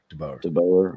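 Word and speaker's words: DeBoer: But don't forget, a lot of hate on Dubauer this weekend. Is that how you pronounce his name? DeBauer.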